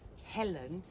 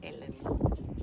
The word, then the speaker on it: Helen: my second language, and we don't really pronounce the H's in Portuguese. So I would like to thank Helen, not Ellen.